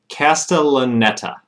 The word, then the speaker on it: Castellaneta: to figure out how to say his name castellaneta who is the voice of homer from the